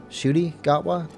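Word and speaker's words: Ncuti Gatwa: and I shooty you told me the correct pronunciation before shooty gwa yeah I watched up to Peter Kali that's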